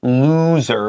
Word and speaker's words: loser: and then we have loser which has that long o and the S is a z so you can practice